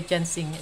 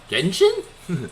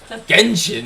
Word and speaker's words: Genshin: Genshin? No, Ginseng. It's not Ginseng Impact. Ginseng is like a root that Asian people drink for like eternal life. Genshin is this game.